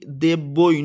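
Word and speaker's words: দেব্যৈ: ওম ব্রুম বৃহস্পতায় নমঃ ওম শ্রিং লক্ষ্মী দৈব্য নমঃ সরি এখানে ভুল উচ্চারণ হয়ে গেছে। ওম শ্রিং লক্ষ্মী দেব্যই নমঃ উচ্চারণ হবে।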